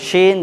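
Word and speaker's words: شين: যদি নোক্তা না থাকে তাহলে আপনাকে পাতলা করে উচ্চারণ করতে হবে দন্ত স দিয়ে, যেমন সিন। আর যদি নোক্তা থাকে অপরে 3টি তাহলে আপনাকে মোটা করে উচ্চারণ করতে হবে তালবির স দিয়ে, যেমন আমরা উচ্চারণ করেছি শিন।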